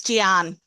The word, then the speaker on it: Gian: hope so uh yeah it's Gian Gian okay no one can guess it because it's an originally an Italian name and it's not pronounced the Italian name it's just a way